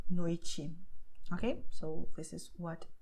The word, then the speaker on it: noite: The same happens with TE, but only at the end of the word. Okay, so you have Tiago noite. Okay, so this is what you do here. Okay, Tiago noite, and that's it.